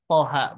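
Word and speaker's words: طه: perlu kita perbaiki ya dari pengucapan haknya kalau thnya itu sudah masuk kadar dua harakat tapi Hnya itu kelebihan ya karena di sini tandanya fathah berdiri dua-duanya maka Ibu cukup bacakan dengan padar panjang dua harakat saja gitu bu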